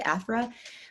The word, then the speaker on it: Afrah: In the Arabic pronunciation is Afrah. Most people say Afrah, but it means joy and happiness.